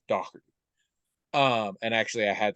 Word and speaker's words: Doherty: pronounce their last name dork but in Ireland it's actually pronounced dockerty um and actually I